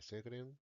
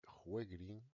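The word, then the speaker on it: Sjögren: Pues tres, contribuir al establecimiento del diagnóstico de la enfermedad de Segre. Realmente la pronunciación correcta es enfermedad de juegrín.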